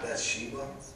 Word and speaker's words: Bathsheba: And someone said, "Is this not Bathsheba, the daughter of Eliam?" That's how you pronounce it.